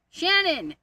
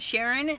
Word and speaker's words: Shannon: Shannon, not Sharon.